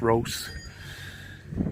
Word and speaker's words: Rhos: Pet shop or roast actually pronounced roast uh nice to see all these traditional shops still up and running.